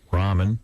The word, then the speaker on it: ramen: Those I things, just didn't know if they were Roman or ramen. No, it's ramen. That's But how what do you say. spell it? R-A-M-E-N. I thought those were Ramon noodles. That's ramen. That's ramen noodles.